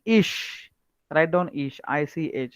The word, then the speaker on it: ich: How you will write, once you will start pronouncing ish, write down ish, ich, like that.